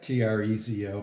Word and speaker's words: Trezo: first about like it's trey's though right now yeah that's right that's t-r-e-z-o pronounced trezo that's a actually a